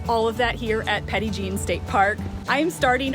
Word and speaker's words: Petit Jean: Little John in French the locals pronounce it Petty Jean Petty Jean's true identity